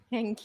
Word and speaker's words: than: Thank you. Then. Than. Yes, it's important that you say Than.